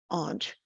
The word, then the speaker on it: aunt: regional differences so if you're from some places you'll say aunt and if you're from other places or other you'll social groups you'll say and uh so just so you know and they're both spelled the same but they sound different anyway if you're an